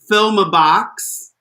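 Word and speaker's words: Philmah Bocks: JoJo Zaho and Kitamine's entrance wigs were both made by Filmabox, is her name. Filma, it's spelled Philmah, box, Bocks.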